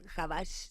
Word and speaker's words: Habash: E insisto, si no se pronuncia Habaj, por favor, escríbanos y díganos. A ver, Hussein Habaj se pronuncia Habash, se escribe Habash.